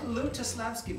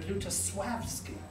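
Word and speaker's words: Lutosławski: as i pronounced it his name is not lutaslavsky but luta swabski because there's a little line through the l which is what that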